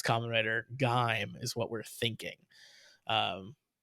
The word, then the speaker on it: Gaim: just to throw my 10 cents in I pronounce gime like dime with a G probably incorrectly because if you remember Toby I said Kamen Rider game which was not correct it's Kamen Rider gaim is what we're thinking um or at least